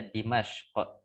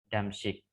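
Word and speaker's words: دمشق: Kalau Damaskus dalam bahasa Arab itu dibaca Dimashq ya. Damaskus kita dalam bahasa Arab bilangnya Dimashq bukan Damsyik tapi Dimashq.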